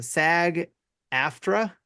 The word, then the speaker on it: SAG-AFTRA: strike which is the SAG Afra s a g a f t r a video game uh voice I don't know what it means but yeah that's what how it's pronounced performance actors are going